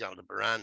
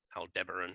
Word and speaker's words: Aldebaran: So this is, so they say, this is Aldebaran or Aldebaran, however you want to pronounce it.